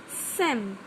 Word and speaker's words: some: When some is used in this way, it is pronounced Sam.